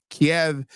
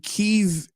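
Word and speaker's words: Kyiv: remembering the rationale correctly Kev is the Russian pronunciation God and keev is the Ukrainian pronunciation right is there that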